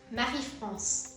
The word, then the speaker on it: Marie-France: How do you pronounce this? Marie-France. Like the country.